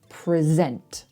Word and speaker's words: present: So if it's the verb, we say present. We put the stress on the second syllable if you're using it as a verb.